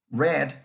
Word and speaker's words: read: Read se escribe igual, nada más lo que cambió fue el sonido, la pronunciación a pasado. Read en presente, read en pasado.